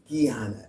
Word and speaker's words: Guyana: It's Guyana and I ain't never mispronounced it since.